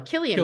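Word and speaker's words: Cillian: it San or Killian I never know kilan Killian Murphy Killian Murphy okay I've been saying it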